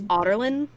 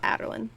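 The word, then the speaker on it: Adarlan: Because also it's Arobin Hamel, by the way, not Hamel, and it's Otterlin. Yeah, that's how Elizabeth pronounces it, not Adderlin.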